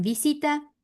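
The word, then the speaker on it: visite: Visita, Visité. ¿pronuncio la E final? Ah, no, visité. No. No. Visit.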